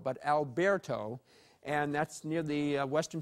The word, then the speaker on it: Alberto: We have a subtropical storm, Alberto. That's the way it's pronounced, not Alberto, but Alberto.